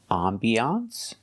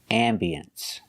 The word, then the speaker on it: ambiance: This word has 2 pronunciations. You cannot say this. And the new hotel had a very nice ambiance. That's right. You cannot say ambiance. You can say ambiance or ambience.